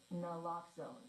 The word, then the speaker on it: naloxone: For the record, it's naloxone.